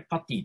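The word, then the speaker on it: PuTTY: 8 ペラタームやパーティーこれパティと読みますパッキーといった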